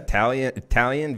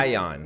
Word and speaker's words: Taillon: We got Italian versus Bumgarner. Yes. That Jameson was one of the series. Taillon. Yes. Sorry, I pronounced that wrong.